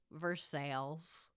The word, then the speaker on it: Versailles: It's called the Kentucky Castle, and it's in a town of Kentucky that is spelled like Versailles, like the castle in France, but is pronounced Versailles.